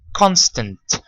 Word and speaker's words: constant: Now, bear in mind that the A letter is not pronounced. It's pronounced as a schwa sound, and that's an unstressed sound. We don't say constant, we don't say constant, we say constant.